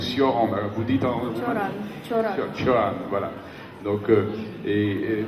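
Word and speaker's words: Cioran: naissance et c'est alors je vais pas prononcer à la Roumaine parce que sinon s'il y a quelques Français là me comprendrait pas c'est donc sioran vous Ditan voilà donc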